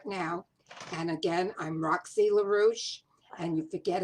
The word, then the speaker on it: LaRouche: And again, I'm Roxy LaRouche, and you forget how to pronounce it. It rhymes with douche.